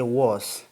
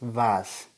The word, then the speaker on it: was: why are you nice what for example is vas don't say was it's vas so it's like so in bracket means a close pronunciation so vas okay and lastly how